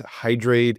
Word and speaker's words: Hydr8: So that's Hydr8. It's HYDR, the number 8, spelt phonetically. There's a whole story behind that too. I won't get into right now. And that's .us, as in hydrate us.